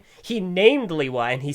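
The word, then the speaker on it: Lewa: It's Liwa. The official pronunciation is Liwa. You can say it however you want. But the creators have spoken, and gosh freaking dang it. It's Liwa. It was said Liwa in the movie.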